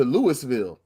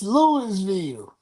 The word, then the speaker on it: Louisville: You lost at home to Louis to Lewisville. I'mma say it wrong on purpose. It's Louisville.